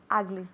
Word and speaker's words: ugly: Ugly. Ok, esa U suena como una A.